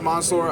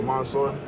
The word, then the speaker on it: Mansoor: Yeah it's Monsour. Um you know uh it's pronounced it's spelled with a a so I don't blame too many people. Uh but it's almost like O. So Monsur.